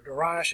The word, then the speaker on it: Darius: was a Persian king, and his name was Darius, or Darius the Great, Darius the First, or Darius if you want to pronounce it that way.